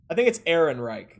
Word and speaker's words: Ehrenreich: Smitty missed a syllable in his name. But I think it's Ehrenreich.